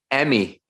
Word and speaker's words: Emmy: Emmy. How do you say your name again? Emmy.